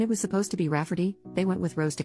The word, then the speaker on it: Rayfarty: wanting to name my niece Rayfarty, pronounced Rafferty, not at all like Rayfarty.